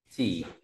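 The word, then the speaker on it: 几: tiếp theo ta có từ kỷ là mấy đọc là chỉ à Chỉ đây cách viết chỉ như thế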